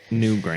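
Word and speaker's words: Newgrange: no I mean it's it's new Gingrich but it's missing a few syllables it's new NE e w gra g r a n g e all one word new gra and it's like this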